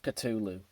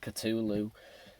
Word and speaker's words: Cthulhu: caught the call of cthulhu now why is it Cthulhu not Cthulhu basically James Hetfield couldn't really pronounce it Cthulhu always pronounced it Cthulhu and like I said it's got a silent h and it suits the